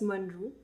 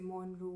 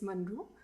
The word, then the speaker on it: Monroe: So it is pronounced as Monroe. Okay. It's as simple as that. It's Monroe. Okay. But many people get it wrong. Okay. They say Monroe, Monri, and I have to listen to it all the time.